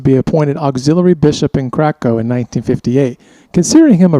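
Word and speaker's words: Kraków: Yeah, and it's Krakow. right? Krakow, yes. I thought you were saying crack house. Whoa. Dial back the moxie, sass mouth. Not so much. That's the Texas pronunciation, I mean- Krakow.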